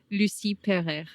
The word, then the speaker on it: Lucie Pereyre: Pronounce again. Lucy Pere.